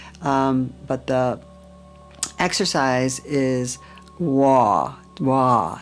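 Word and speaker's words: Wah: Wa. It's like W-A-H, and it goes from low to as high as you can go.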